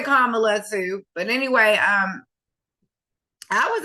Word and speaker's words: Kamala: to pronounce her name, I say Kamala. Yeah, Kamala, because that's really what it is. Kamala. That's just like if it had a J there and it would be close to what my name is, my legal name, Jamala.